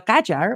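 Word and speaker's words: Qajar: of Iran uh under kajar or you guys pronounce that kajer dynasty they actually ruled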